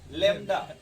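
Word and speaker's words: lambda: तो मतलब बोलिएगा लवंडा ठीक है, बट याद रखिएगा लैम्डा। ठीक है सत्यम जी, अब बोलिए इसमें कोई टेंशन, क्योंकि जब तक अगर किसी भी नाम का प्रोनाउंस भोजपुरी में नहीं आता है यूपी या बिहार में, तब तक पढ़ने में इंटरेस्ट नहीं आता। तो आप लवंडा बोलिए चलेगा, बट याद रखिएगा भाई इसको लवंडा बोल नहीं लैम्डा बोलते हैं।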